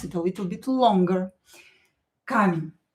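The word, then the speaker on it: камень: Kamen. E not stressed will be pronounced as i.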